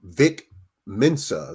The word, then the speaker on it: Vic Mensa: By the way, the rapper Vic Mensa, that's how you pronounce his name.